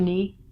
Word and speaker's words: knee: not even a word but when you say it take the silent letter out next one is me the part of here that connects your thigh to your calf it's called your knee got a foot here